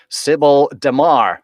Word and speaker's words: Sibel Damar: Today I'll be interviewing Sibel Damar. Did I Oh, pronounce that Sibel.